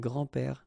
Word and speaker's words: grands-pères: Okay, so it's not really difficult, and especially if you think about that, you don't pronounce this s, so actually phonetically it's the same grand-père here and grand-père here.